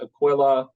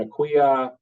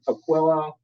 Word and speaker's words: Aquila: the history of the Aquilla and it is pronounced Aquilla uh it's not Aquia or how else do we hear it oh uh ailia ailia yeah I'll kill you yeah so that's my favorite one it's Aquilla um so this is the brief timeline of